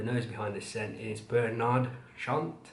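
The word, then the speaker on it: Bernard Chant: behind this scent is bernard shant i believe that's how he pronounced his name let me just double check yeah bernard sean and a fragrance which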